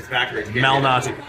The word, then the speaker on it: Malnati: It's Nobody can pronounce it. It's right there. Lou, like Lewis, Malnati.